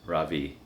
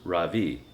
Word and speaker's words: Ravi: first name is ravi it's pronounced ravi with a soft r and a strong v in sanskrit it means the sun in america people call me ra v with the stress on the first syllable that doesn't mean anything